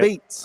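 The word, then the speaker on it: apizza: Okay, so look, a pizza. That's the way you pronounce it, right? Beats. A pizza. It's spelled a pizza, but again, it's a classic, old school Italian that's converted to New Haven.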